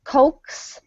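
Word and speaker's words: coax: okay yeah good and the vowel there is pronounced just oh so cokes and this is the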